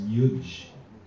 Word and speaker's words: yuj: So the verbal root of yoga is yuj. So you spell it in Latin transliteration, upsilon u yot, you would say, yot. So that's yuj.